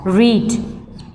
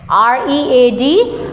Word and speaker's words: read: have the verb as read. If we want to find out the second form of this verb, the spelling will remain same, but the pronunciation will be changed. The spelling will remain as R-E-A-D, but the pronunciation for